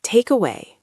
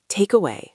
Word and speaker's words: takeaway: Takeaway. Takeaway. Stress on take.